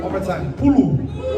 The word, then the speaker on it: pulu: Everyone say pulu. One more time, pulu. It's spelled P-U-L-U.